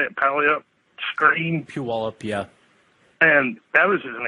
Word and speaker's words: Puyallup: Puyallup, yeah.